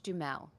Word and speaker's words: Duhamel: think it's Josh Dumel. For Americans, I pronounce it like the Oh, I way see. Got it. from the area of France that he was born.